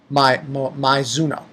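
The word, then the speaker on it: Maizono: Those two are my favorite, not including Mizuno. I think that's her name. That's how you say her name. Mizuno.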